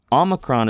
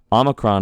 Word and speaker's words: omicron: Omicron is pronounced kind of like an aw sound. Aw. That's different from alpha. So alpha is ah. Omicron is aw.